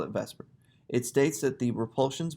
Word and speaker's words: VSEPR: electron pair repulsion theory um i know it's pronounced spelled the supper but we call it vesper it states that the repulsions between valence electron